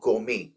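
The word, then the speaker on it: gourmet: centric मतलब सनकी और गोमे इसमें आर और टी दोनों साइलेंट है इसका मतलब होता है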